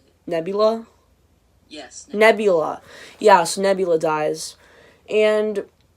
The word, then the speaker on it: Nebula: Yes, Nebula.